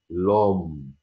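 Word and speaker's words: homme: كلمه الرجل برضو ام، برضو القش كانها مش موجوده، الاو ما ينفعش يجي وراها او، فبالتالي بحذف الاو واحط ابستروف، فتبقى لوم، الرجل لوم. القش صامته كانها مش موجوده.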